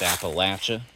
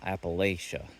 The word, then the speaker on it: Appalachia: the way it's pronounced Appalachia not Appalachia it's uh it's like if you said if you pronounce it wrong again I'll throw an appal at you it's Appalachia it's not Appalachia but the closest like